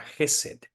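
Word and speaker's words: חסד: palabra en el Antiguo Testamento es la palabra jesed se escribe h e s d y tiene que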